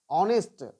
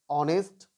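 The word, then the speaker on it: honest: आवर, ऑनेस्ट, honour. यानी एच के ठीक बाद अगर ओ रहे या ओ से पहले एच रहे, तो हम लोग क्या करेंगे, एच को साइलेंट कर देंगे।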